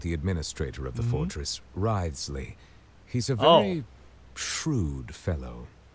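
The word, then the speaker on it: Wriothesley: personal dealings with the administrator of the Fortress Risley he's a very shrewd fellow that's how you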